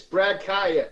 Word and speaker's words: Kaaya: laughed at me but uh this true freshman Brad Kaaya is that how you pronounce it yes it is Brad Kaya he's killing it I mean this guy's unbelievable